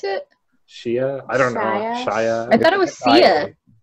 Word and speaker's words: Sia: Is that how you pronounce it? Shea? I don't know. Shia? I thought it was Sia. S-I-A.